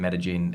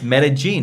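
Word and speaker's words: Medellín: No, that's how you say it. It's Medellin, not Medellin. Right, but you're like Medellin.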